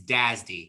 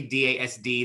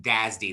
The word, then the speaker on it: DASD: first one we're going to talk about is dazdy it's pronounced this word and this word if you're not familiar with mainframes uh you'll hear people use this term all the time they do not say dasd they say dazdy they pronounce it okay so